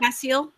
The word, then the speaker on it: Castile: Castile. Yeah. I I don't I don't pronounce the T.